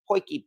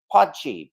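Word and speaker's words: potjie: the interesting thing as well is how oh poiki by the way uh yeah that's how it's actually pronounced and I know from people in South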